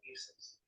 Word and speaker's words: Isis: I said Isis, because that's really how her name would have been pronounced.